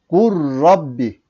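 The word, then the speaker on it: قُلْ رَبِّ: örneğimiz bakalım şimdi burada kul Rabbi kul Rabbi kur'an-ı Kerim'de bu şekilde yazılır Fakat şu şekilde okunur bakın g Rabbi gur Rabbi yani ne yaptık biz lam harfini lam harfini sildik B neev lam harfini okumadık lam harfi yerine ra harfini iki defa okuduk gur Rabbi gur Rabbi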